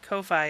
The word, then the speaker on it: Ko-fi: So I follow him on his Ko-fi. I pronounce it Ko-fi, but apparently it's Kofi.